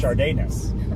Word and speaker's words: Sadeness: And then on this one, you said it's pronounced Sadeness, and I go, no, it's not. And I go, no, it's pronounced Chardayness.